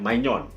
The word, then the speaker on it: Maignan: Nah, ini tulisannya Mike Maignan ya, bacanya Maignan.